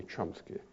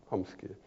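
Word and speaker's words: Chomsky: You Americans say chsky but it should be said homsky because it's a Polish man or a Ukrainian I don't know but originally it comes from this language.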